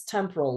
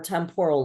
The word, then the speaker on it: temporal: Then we have this temporal lobe or temporal lobe. It's it's pronounced both ways.